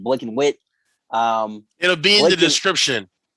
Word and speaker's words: BLKNWHTE: If you ask me, that's pronounced Blick and Wit.